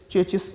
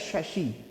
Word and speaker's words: chassis: बोलते हैं क्या, चेचिस, चेचिस वर्ड सुना होगा, that is नॉट चेचिस, that is शशि, शशि, that is शशि।